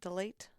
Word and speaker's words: Delate: Is that how you say that? Delate? Deliat? Delayet? Delia? It's French. Delay. So Delay. could be. Delay. I think Siri pronounced it delay.